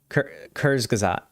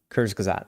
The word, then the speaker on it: Kurzgesagt: I'm sure, has done a video on it's Kurzgesagt. Kurzgesagt, thank you.